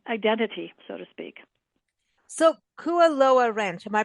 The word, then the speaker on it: Kualoa: uh you know identity so to speak so kuaa rench am I pronouncing that correctly yes okay so this is